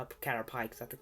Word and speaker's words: Caterpie: catcher pie catcher pie okay i know it's pronounced cat or p but i call it cat or pikes i think it's a funnier way you're a